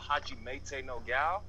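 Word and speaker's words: Hajimete no Gal: it was called, I don't know how to pronounce it correctly, but it's called Hajimete no Gao, and it's a pretty good anime, typical harem anime, but Yeah, you pronounced it right, Tony.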